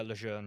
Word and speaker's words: Lejeune: So pronounce that right, Lejeune. yeah, Lejeune, yeah, yeah, that's all right.